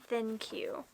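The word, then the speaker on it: ThinQ: But like I think that's what they're going for. It's thin, but also has a Q at the end, so it's think. I don't know. No, that's dumb. It's a thin Q.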